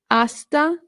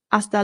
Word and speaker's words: hasta: Hasta luego means see you later. Hasta luego. Hasta luego. Very good. Remember, the H in Spanish is silent, so this is not hasta, just hasta.